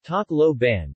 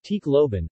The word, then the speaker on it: Tacloban: Tacloban, Tacloban, Tagalog pronunciation, Tacloban, or simply referred to as Tacloban City, is a first-class highly urbanized city in the Philippines.